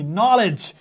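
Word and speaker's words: knowledge: কে এন ও ডবলিউ এলইডি নলেজ। এটা হচ্ছে একটা শব্দের বানান। তার মানে এটার উচ্চারণ কি?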